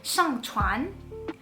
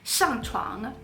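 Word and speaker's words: 上船: So if you say get on a boat, you're supposed to say 上船. However, I got confused in the moment. I slipped up and I said 上床. And just by adding that extra little sound at the end, instead of saying get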